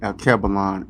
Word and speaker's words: Alkebulan: but uh my facebook name is kevilon a-l-k-e-b-u-l-a-n in their cabalanches mean lantern or